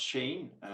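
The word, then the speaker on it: Shein: if we look at Sheen for instance there it's much more I didn't know that it was uh pronounced Shan learned something new Julia yeah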